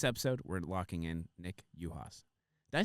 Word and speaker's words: Uhas: We don't really say the U. Like, we pronounce it like right? So, like, James Utley or something like that. Right. So, yes, Uhas, thank you. So I said it right.